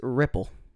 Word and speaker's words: Riepl: when he was at he said my name wrong all the time it wasn't far from ripple it was it was it was it was like he emphasized the e like it was a regal and it happened so